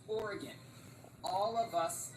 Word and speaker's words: Oregon: chopping down the trees shout out to this actor for pronouncing Oregon correctly because every godamn person on the planet seems to say or Aon when they're making videos filming a more like or I have not heard a single person in my life pronounce it that way it is Oregon all of us say